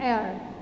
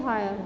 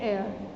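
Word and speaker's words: heir: An air. We don't say higher, we say air. An air. H is silent in such words.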